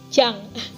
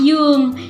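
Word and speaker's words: Jung: Swiss kemarin, Carl Gustav Jang. Itu mau nih, Carl Gustav Jang atau bisa dikenal Cigi Jang. Nah, biasanya dipanggil Pak Jang ya. Itu bacanya bukan Pak Jang, tapi Pak Yung ya.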